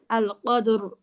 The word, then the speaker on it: القدر: অনেকটা এইরকম উচ্চারণ করবো, অটা বেশি হাইট করে উচ্চারণ করবো, বুঝছেন? আল কদর, আল কদর, বুঝছেন?